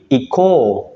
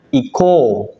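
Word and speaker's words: 行こう: jadinya seperti ini ikimash menjadi Iko bukan Ico atau Ico u bukan ya tapi dibacanya Iko kayak gitu ya contoh yang kedua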